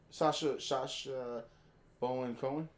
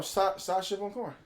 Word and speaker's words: Sacha Baron Cohen: Sasha Bowen Cohen. That's how you say his name? Are you making up shit? No, Sacha Baron Cohen.